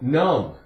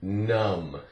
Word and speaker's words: numb: all right and um B D is silent um um numb it's not along you um short you numb how about the word crumb